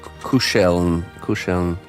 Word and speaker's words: kuscheln: Reminds me of the word kuscheln. I believe that's how it's said. It's a German word for cuddling.